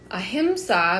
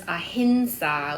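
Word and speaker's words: अहिंसा: So again, the verse ahimsa, but it's pronounced in the verse ahinsa with an N sound to blend to the next letter.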